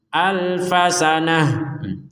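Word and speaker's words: أَلْفَ سَنَةٍ: lagi dengan ini kholisoh Nah kenapa dibacanya ha karena berh berhenti alfasanah terus kalau di dilanjutkan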